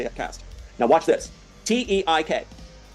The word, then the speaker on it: Teik: T E I K. Pronounce it.